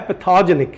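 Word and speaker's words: pathogenic: एक वर्ड आया पैथोजेनिक, इधर देखिए, इस ई के बाद ये जो गैप है ना और ऊपर जो स्ट्रेस है, इससे हमें पता चलता है कि हमें इसका प्रोनाउंसिएशन ऐसे करना है, पैथोजेनिक।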